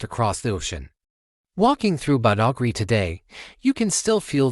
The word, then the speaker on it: Badagry: The Europeans who later arrived found it easier to pronounce as Bogri, and that's the name that has stuck through the centuries.